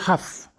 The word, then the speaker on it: half: On va utiliser half. Half. Alors il faut savoir qu'en anglais, half, on ne prononce pas le L. Le L, le half ne se prononce pas, donc on dit half.